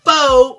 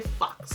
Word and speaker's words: faux: this retails for $4.99 I'm sure it's pronounced faux mink eyelashes but you know what I want to say Fox these are kind of